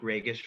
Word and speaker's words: Ragas: Some of you watching this are probably like, I always joke, Ragas rhymes with Vegas.